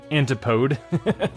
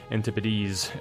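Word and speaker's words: antipodes: It is not pronounced an antipode.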